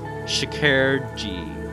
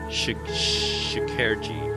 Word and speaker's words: Şekerci: It's pronounced Şekerci. Şekerci.